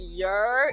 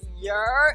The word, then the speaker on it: Yurr: So your can be spelled either YERR, but majority of New Yorkers spell it YURR. And it's how we say hello. We just like your down the block, your, and that's it.